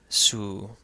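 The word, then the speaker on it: ⲋ: This is the symbol for it, and it is pronounced su, su.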